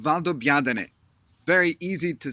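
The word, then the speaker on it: Valdobbiadene: proseccos in the world is a town called valdobiadane very easy to say when you hear it but very difficult to pronounce when you read it this is a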